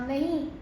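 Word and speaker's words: Knie: इसे हम कहते हैं दास नी, लेकिन इसकी स्पेलिंग अलग होती है।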